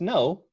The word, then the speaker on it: know: So it must have been that in an earlier time in English, the K in K-N-O-W was pronounced. And after it was stopped being pronounced before N, then the two words sounded the same.